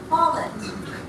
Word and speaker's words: Follett: His name is pronounced Follett.